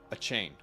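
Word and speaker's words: Achane: it came out that you're supposed to say it his pronounce his name Devon achain a chain yeah Deon a chain which why that sounds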